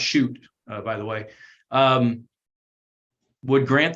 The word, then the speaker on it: Shute: Shute, and it's pronounced Shute, by the way, would grant the same right.